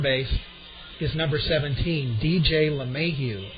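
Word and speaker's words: LeMahieu: and at third base is number 17 DJ lahu l e capital m a i euu batting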